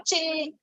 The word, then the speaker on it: Qin: नहीं, वो आप जिसको क्यों बुलाते हैं चाइना में, उसको प्रोनाउंस करते वक्त च बोलते हैं, चिन बुलाते हैं उसको.